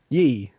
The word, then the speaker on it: Ye: Is it pronounced Yi or Ye? Yi. It is Yi. Yeah, okay, Yi.